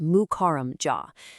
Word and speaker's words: Mukarram Jah: We are studying the life of Nizam Mir Barkat Ali Khan Siddiqi Mukarram Jah. That's pronounced Mukarram Jah.